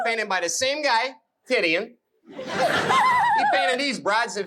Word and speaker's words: Titian: His name is spelled T-I-T-I-A-N.